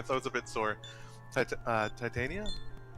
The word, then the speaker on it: Titania: a bit sore uh titania titania i know there's i think titania is like it's titania queen of the fairies yeah that's the like more like original pronunciation of it i am in your